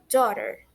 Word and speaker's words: daughter: A gente pronuncia como se tivesse só o iniciozinho dó e o finalzinho rá. Então, juntando fica daughter, tá?